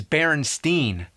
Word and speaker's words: Berenstain: Actually, the most likely pronunciation would be Berenstein since it was spelled the same way like Frankenstein. But everybody I ever met says Berenstain.